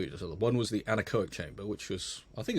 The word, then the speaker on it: anechoic: So I remember I did an open day down at Southampton Solent, and I went in I can never pronounce it correctly, the anechoic chamber. Yeah, anechoic.